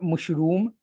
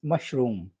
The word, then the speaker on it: mushroom: special in itself m-u-s-h-r-o-m not mushroom it's mushroom mushroom mushroom low in cholesterol and